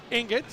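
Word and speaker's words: Enget: Nick ingot. E N Ge T. In ingot. Ingot is how it's pronounced.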